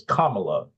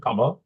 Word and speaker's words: Kamala: It's Kamala, like the punctuation, Kamala.